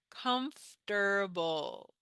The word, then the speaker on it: comfortable: pronounce it comter like this comble so we pronounce it more comforable comfortable okay are you comfortable try saying it please pause this video when